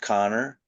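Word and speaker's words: Kanner: it was the author was this man Leo Connor spelled caner but it's pronounced Connor he was from Austria he was a child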